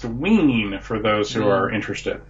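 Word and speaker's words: Wein: pitlick destroy the Multiverse it is pronounced wean for those who are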